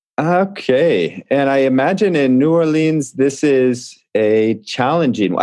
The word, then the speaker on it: New Orleans: I'm actually in New Orleans, Louisiana, and I mispronounced New Orleans. Narlands, I think is the way they like to say it here.